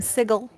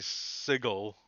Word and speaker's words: Sigil: which is the world's worst way of pronouncing that word. I call it Sigil. sigil. I know, but Chris Perkins, the D&D king, calls it Sigil, and it drives me crazy.